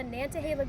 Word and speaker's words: Nantahala: Um so, you're going to the Nantahala Gorge. It is attached to the Nantahala River, and it's going to stop at the NOC, which is the Nantahala Outdoor Center.